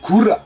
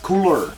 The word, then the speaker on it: Kura: Also, his name is spelled Kura. Kura, not Cooler.